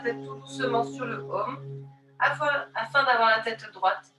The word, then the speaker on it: Om: est le son universel, qui s'écrit A-U-M. Tu laisseras bien vibrer le A au niveau des organes génitaux, le U dans ton ventre, ta poitrine, et le M dans ta tête.